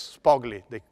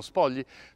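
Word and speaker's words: Spogli: from ambassador ron spaldi well yes sparkly they say but it's an italian name so i'll pronounce it the way we would pronounce it in italy so ron spodli to establish a sharing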